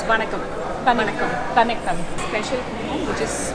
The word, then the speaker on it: Vanakkam: It's Vanakkam.